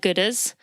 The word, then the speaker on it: Goodr: Last year I mentioned that I have Oakleys and Gooders. So Gooder is spelled Goodr.